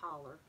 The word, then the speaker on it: holler: people up in that holler, yes, I can say holler. I know it's spelled hollow.